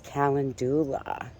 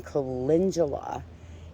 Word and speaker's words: calendula: a native plant was i thought it was calendula and i remember the first time i heard someone saying calendula and i was like oh that's how you